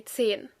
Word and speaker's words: Zehen: E, but normally when you speak fast, you will say Zehen. So it kind of sounds like a little stretched version of the number 10, 10.